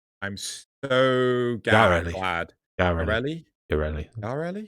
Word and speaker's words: Yareli: Next, new Warframe, Ureli. I'm so glad. Yareli. Pronounced Yarel-E. Ureli. Editor's note, pronounced Yarel-E.